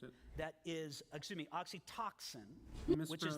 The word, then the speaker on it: oxytocin: One of the chemicals that mediates these feelings is Oxycontin, which is the same chemical mispronounced it. that is, oxytocin, You which is mispronounced it again.